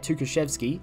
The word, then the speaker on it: Tukhachevsky: I can say it, Tukhachevsky, that's right, and then another time I'll just be like, sugar zivzu.